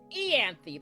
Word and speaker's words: Ianthe: Ianthe, that's how you pronounce it.